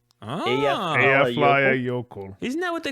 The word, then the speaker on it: Eyjafjallajökull: Oh, It's Eyjafjallajökull. Eyjafjalla Jökull.